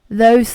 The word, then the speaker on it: loathe: So loathe, when it is L-O-A-T-H-E, it's the th sound. But then, when it's L-O-A-T-H, it is an adjective. Then you need to pronounce it as loathe. But when there's an E right after it, it is a verb, and you need to change the sound accordingly.